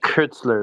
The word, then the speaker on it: Koestler: Kurtzler is how you say it.